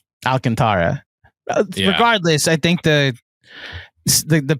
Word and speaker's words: Alcantara: I think it's Alcantra but I think I'm over pronouncing it. Alcantara regardless.